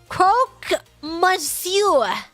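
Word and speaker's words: croque monsieur: have you passed out if you want to pronounce Croc Monsour just say cro mure okay did I say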